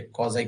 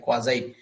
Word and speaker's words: quasi: Contract, देखिए ये रहा आपका 10वां टॉपिक है, कॉजाई कॉन्ट्रैक्ट। कुछ लोग क्वासी कॉन्ट्रैक्ट भी कह देते हैं इसको, तो जो भी आप समझें, है ना, प्रोनाउंस अपने आप कर लीजिएगा। स्पेलिंग का ध्यान रखिए, QUASI, क्वाजाई कॉन्ट्रैक्ट।